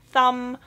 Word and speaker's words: thumb: dear myself to you do not pronounce the B it's a silent B so it's thumb womb what else would